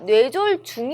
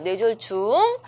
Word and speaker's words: 뇌졸중: 뇌졸중 이라고 많이 하는데 졸 증 이 아니라 뇌졸중 이에요 뇌졸중 눈 고비 여눈 꼬비